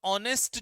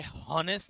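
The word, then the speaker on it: honest: ठीक है, सपोज करो मैंने यहां पे लिखा ऑनेस्ट, तो ऑनेस्ट जो है, ध्यान रखना ऑनेस्ट, ये हॉनेस्ट नहीं है नहीं है, एच साइलेंट है, ऑनेस्ट।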